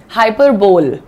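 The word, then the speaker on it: hyperbole: लेकिन अंग्रेजी में इसको हाइपरबोल नहीं बोलते हैं, इसका प्रोनाउंसिएशन ऐसे लिखिएगा, हाइपरबली, हाइपरबली, हाई प का साउंड है ये। PUH लिखा है, RUH लिखा है, SUH लिखा है, तो उसको हम प स र ऐसे पढ़ते हैं।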